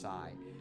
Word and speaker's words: PSI: game for some reason I always pronounce PSI as sigh I guess I could do that but like I don't know I I feel like it's got to be the letters you know anyways we